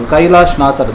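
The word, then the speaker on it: Kailasanathar: Kailashnathar, that is the Tamil pronunciation.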